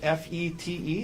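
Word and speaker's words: Fête: Um, tell us Well, first of all, is it FE T? Is that how you spell it? Uh, yes. This first E has a circumflex over it. Okay. But it's pronounced FET. FET.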